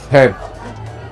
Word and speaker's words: เผ็ด: เผ็ดเผ็ด Head.